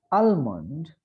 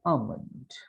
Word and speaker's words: almond: It is not almond, but it is almond.